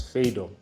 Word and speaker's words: Phaedo: to look at the dialogue fedo which some people pronounce as fedo fedo was a student